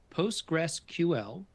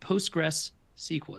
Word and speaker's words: PostgreSQL: so the first is there are two connect correct pronunciations uh for referring to postgress one is postgressql so kind of the SQL just rolls off the end of the word so it's not postgress SQL it's postgressql or postgress what is generally